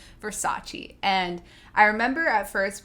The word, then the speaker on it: Versace: to say it so she goes around pronouncing it verse ace instead of versace and i remember at